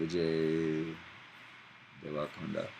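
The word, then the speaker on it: Vijay Deverakonda: I think Vijay Devarkonda. Vijay Devarkonda.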